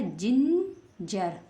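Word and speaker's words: ginger: है ई है ना यदि जी के बाद ई आई वाई आए तो जी को ज पढ़ते हैं तो बन गया जिंजर क्या बन गया इस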